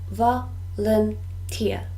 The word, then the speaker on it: volunteer: help people in need volunteer this word has three syllables volunteer and the stress is on the third syllable volunteer volunteer a volunteer